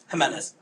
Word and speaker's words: Jimenez: What What What How do you pronounce your J Your Your Jimenez. Huh? So, pronounce it like an H.